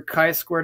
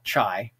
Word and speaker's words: chi-squared: into the HD for the big ideas for chi-squared analysis we should notice that it's pronounced as chi-squared not Chi not shy right not getting T here and that of